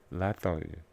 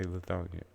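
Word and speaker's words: Lithonia: Child Gambino Lonia. Now remember, that's only pronounced that way by people who actually live here. Anybody else who says it will say Lethonia and we will look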